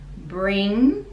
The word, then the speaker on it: bring: Now bring us, bring, again because it's NG, we don't pronounce the G and it's a nasal sound.